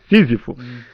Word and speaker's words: Sísifo: Tá certo a pronúncia? É Sísifo mesmo? Sísifo.